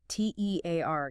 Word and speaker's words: tear: T E A R gives us tear rhyming with here or fear.